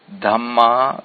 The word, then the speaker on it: Dhamma: Dhamma with a long A is another important word, which means the same as kamma bija.